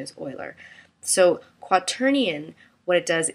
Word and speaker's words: Euler: It looks like it's Euler, but I think the correct pronunciation is Euler.